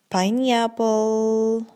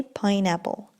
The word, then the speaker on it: pineapple: pineapple pineapple pineapple pineapple oh people say Piney Apple okay some people say Piney Apple but that's not correct you should say pineapple pineapple for example my